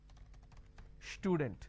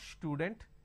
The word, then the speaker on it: student: For example, if I have the word which is student, lot of people make a mistake and they pronounce this with a sh. Student. It's not student, it is student.